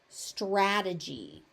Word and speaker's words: strategy: site strategy strategy. So that e in the middle is actually pronounced as e and the y on the end is pronounced.